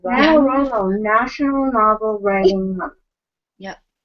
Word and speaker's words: NaNoWriMo: NaNoWriMo? Yeah. NaNoWriMo, National Novel Writing Month.